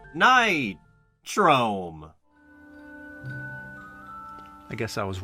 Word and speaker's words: Nitrome: before this game where we can officially confirm that it's pronounced night chrome i guess i was